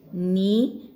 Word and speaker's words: knee: Otherwise, knee may K is not pronounced, children. So N is pronounced and double E may single E. So knee.